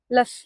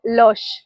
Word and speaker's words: Luz: லஸ் தப்பா ப்ரொனவுன்ஸ் பண்றேன்ல, அதாங்க. போர்ச்சுகீஸ் படி லஸ் இல்லைங்க, அது பேர் லோஷ். லோஷ் அப்படின்னா லைட்னு அர்த்தம். 16ஆம் நூற்றாண்டப்போ போர்ச்சுகீஸ் மிஷினரிஸ் எல்லாரும் மயிலாப்பூர் வந்த போது அந்த இடத்துல சர்ச் கட்டுறாங்க.